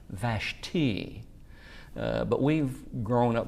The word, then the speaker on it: Vashti: It's actually pronounced Vashti. Uh but we've grown up knowing or calling her Vashtai.